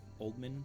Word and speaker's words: Oldman: Oldman, pronounced like a surname?